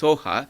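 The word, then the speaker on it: svāhā: So Geshe is saying the Swaha, pronounced Soha, is usually not in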